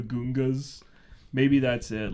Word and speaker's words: Gungan: where like everyone calls him Count Dooku, but George Lucas says Doku, and like the Gungans are the Gungas.